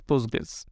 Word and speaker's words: Postgres: ওকে, বাট যেহেতু আগে থেকেই মানুষজন জানতো পোস্টগ্রেস, সেহেতু সেটাকেই পোস্টগ্রেস নিয়েই মানুষ জানে, সেটা মানুষ উচ্চারণও করে হচ্ছে পোস্টগ্রেস। বাট কিওয়ার্ডটা সেই ক্ষেত্রে সাইলেন্ট অবস্থা থাকে, জাস্ট পোস্টগ্রেস।